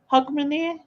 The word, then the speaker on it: Hogmanay: Hogmanay, that's how you say it.